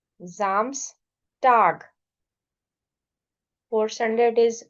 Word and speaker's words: Samstag: क्योंकि ए से पहले एस है, ओ से पहले एस है, ए एंड O both are vowels, so S sound will be एज z. So this is Samstag, Sonntag.